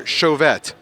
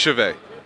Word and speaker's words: Chauvet: as I can remember is it pronounced chave or chauette it's pronounced chave it's pronounced chave do